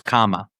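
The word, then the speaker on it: กรรม: So they believe in karma, but they pronounce it as kama.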